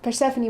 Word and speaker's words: Persephone: sorry okay but yeah Persephone Persephone was her daughter that's how you pronounce her name Persephone mm-hmm and Demeter was